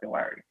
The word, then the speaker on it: Hilary: me hillary and hillary it has the same name it's just pronounced with the accent the nigerian accent hillary so that way